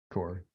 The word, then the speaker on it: Corps: Core. You don't pronounce it.